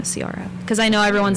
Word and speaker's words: Ciara: Sier era this but it's spelled like I was projecting your name onto it this entire time you were it's pronounced Sara.